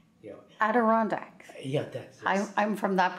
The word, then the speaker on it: Adirondack: I'm sorry, I can't pronounce the name. Yeah. Adirondack.